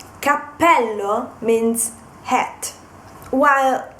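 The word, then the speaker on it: cappello: sound of the consonant then another example is Capello and Capello Capello means hat while Capello with one p is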